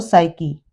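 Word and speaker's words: psyche: P silent हो जाएगा, यदि पी के बाद एस हो तो पी साइलेंट हो जाएगा, ये साम पढ़ा जाएगा, कॉस और साइकी।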